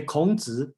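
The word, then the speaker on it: 孔子: And I just look at the chat, okay, and Charles asked me to pronounce how to say Confucius in Chinese. Okay, let's say Kongzi, and then that's the name, just a little bit.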